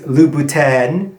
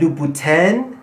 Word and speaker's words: Louboutin: right when you said luputine all of a sudden the aura of bougie that surrounds you disintegrated okay so today we're